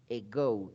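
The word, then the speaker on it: ago: hablamos del pasado simple Se llama eco se escribe con a pero su pronunciación es muy parecida a una e e Go ego Qué significa hace me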